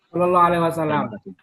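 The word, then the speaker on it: صلى الله عليه وسلم: Bagaimana itu Pak cara bacanya Pak? Sallallahu alaihi wasallam. Sallallahu Oh, alaihi wasallam. Itu sol baik. kata saja. Itu yang saya tulis. Jadi itu sallallahu alaihi wasallam, bukan Oke.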